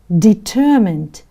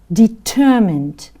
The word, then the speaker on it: determined: let's look what does determined means i want you to repeat after me so which syllable is stressed the second syllable is stressed can you repeat after me determined determined means that somebody wants